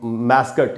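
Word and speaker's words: mascot: McDonald में गए होंगे आप कभी, और वहाँ बाहर उनका एक मैस्कट या मैस्कॉट, दोनों ही उच्चारण है, एक पुतला बैठा होता है।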